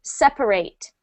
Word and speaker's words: separate: If you are talking about the verb to separate, we use the A sound, to separate.